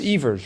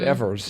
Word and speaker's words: Evers: But it's pronounced Evers, right? Not Evers. Yeah, we pronounce it Evers.